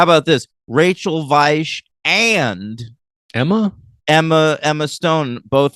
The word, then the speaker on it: Weisz: I'm gonna stick with Weiss, by the way. Weiss, Stone. I do think Weiss is better. Listen, I hate Vice too. That was a bad movie, but her name is pronounced Weisz, Yeah.